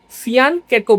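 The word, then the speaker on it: fianchetto: Develop होता है तो उसको हम लोग कहते हैं फियानको बिशप। लेकिन स्पेलिंग लिखते टाइम हम लोग लिखते हैं फियान चटो। फियानटो बिशप अरे फियानटो और इसको किंग्स इंडियन बिशप भी कहते हैं।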